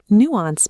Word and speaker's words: nuance: Nuance means a small difference in meaning, feeling or expression. We pronounce it nuance. It has two clear parts.